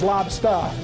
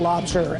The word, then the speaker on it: lobstah: And it's Lobstah, not lobster, L-O-B-S-T-A-H, like you're talking from Boston.